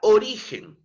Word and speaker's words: origen: ejemplo la palabra origen la palabra origen es una palabra grave No porque si dividimos nosotros entre sus sílabas componentes origen la máxima entonación en esta entonación de voz Es eh la sílaba ri No es cierto oi